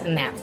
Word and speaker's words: Knapp: Okay, so I literally search for an interview on YouTube to see how she pronounces her name. It's Nap.